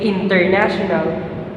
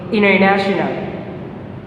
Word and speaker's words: international: But in America, when the letter N and letter T are consecutive, the letter T will be silently spoken. So instead of saying international, we will now say international.